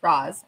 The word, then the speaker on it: Razma: Next up, we have Alexa X Razma. Raz rhymes with the Wizard of Oz, in case you're wondering. So I was saying it wrong. It's Roz, like the Wizard of Oz.